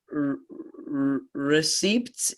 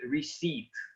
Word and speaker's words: receipt: will translate and uh receipts you know it's like check yeah that's correct so the the pronunciation of the first word is receipt we do not pronounce p receipt it's a receipt like